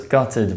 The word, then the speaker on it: gutted: for example I was gutted when I found out I failed the exam note that this word may be pronounced gutted in accents which lack the foot strut split such as in the